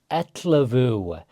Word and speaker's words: ellefu: So Let's start going over ettlavu. The double L is one of the hardest combinations to pronounce in Icelandic.